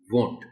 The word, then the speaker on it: won't: foreign vote it's a short form of would not but it's pronounced as won't perfectly there's nothing special